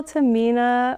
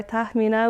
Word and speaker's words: Tahmina: Uh high school Tamina or Tahina, which is the right way of saying my name.